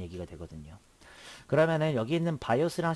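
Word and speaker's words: BIOS: 자, 이것을 바이오스라고 읽고요. 그 다음에 이것을 시모스라고 읽고 이것을 포스트라고 읽습니다.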